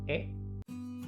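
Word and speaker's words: へ: Setelah itu ada partikel e. Nah, itu kata hiragananya apa sih? Hiragana he ya, tapi dibacanya itu e aja.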